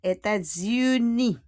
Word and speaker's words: États-Unis: D-O-S because États-Unis, the S will become Z. États-Unis. And à la fin, uni, we don't pronounce le S.